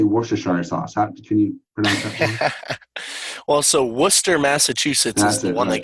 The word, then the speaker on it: Worcester: how do you say worth Hashanah sauce also Worcester Massachusetts that's the one that gets everybody yeah